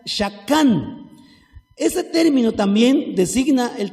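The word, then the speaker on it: שָׁכַן: También hay otra palabra que se lee así, mishkan, que significa tabernáculo o la morada de Dios, que deriva otra palabra que se pronuncia shakán.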